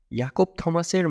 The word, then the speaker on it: ইয়াকব থমাস: ইয়াকব থমাসের মা সুইডিশ, তাই তার নামের উচ্চারণ জ্যাকব থমাস হলেও মায়ের ভাষাকে প্রাধান্য দিয়ে তিনি ইয়াকব থমাস নামেই পরিচিত। কিন্তু বাংলায় যার বড় হওয়া, নামের ক্ষেত্রে তো তার ছায়া অবশ্যই থাকবে।